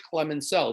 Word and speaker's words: Clemenceau: The second of our big four that you're going to need to know for your next assessment, his name is George Clemenceau. The S is silent.